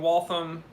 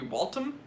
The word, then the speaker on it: Waltham: a hamilton doctor's watch i wonder if the h in waltham is silent uh you understand that the th is a the so i don't like so it'd be walton it's waltham and it's not a french company it's an american